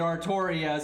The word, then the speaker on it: Artoria: the nail in the coffin is the actually pronounced it artoria so i'm like you know